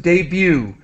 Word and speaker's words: debut: problem and again just debut we do not pronounce the T it's silent debut de beauté debut okay